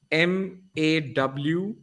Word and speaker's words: Moinak: It's not exactly. It's not how it is spelled. It'll be MAWINAK. All right. Moinak.